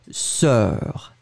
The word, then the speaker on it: sœur: Le premier, bien ouvert, E, serre. Et le deuxième, E, sœur.